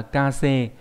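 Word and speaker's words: 火星: Sao hỏa, hỏa tinh là kasei.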